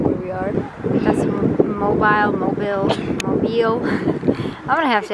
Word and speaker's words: Mobile: you pronounce it because we say mobile but it's like mobile like automobile so it's the way